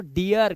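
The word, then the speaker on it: deer: अब जैसे डीर, अब इसे डीर नहीं पढ़ेंगे इसलिए पढ़ते इसको डियर, क्योंकि लास्ट में आर आ गया।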